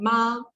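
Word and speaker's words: 妈: So when you speak in the first tone, these syllables together, it means mom. And in Chinese, it's called ma.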